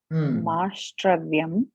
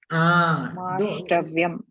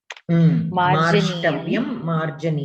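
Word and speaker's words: मार्ष्टव्यम्: Mashtravyam. Marjaniyam. 1 second. The second one you pronounce again? Marshtavyam. Marshtavyam. Correct. You are pronouncing that second ra, which is not needed. Marshtavyam.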